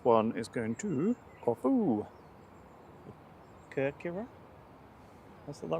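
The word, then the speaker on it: Κέρκυρα: Kirkira? Is that right? Kirkira is Corfu, Yeah. It's the Greek pronunciation.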